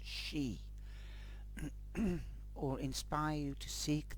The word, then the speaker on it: Sidhe: relationship with the psy or she as it said in the front of the book you have to pronounce it as she or inspire you to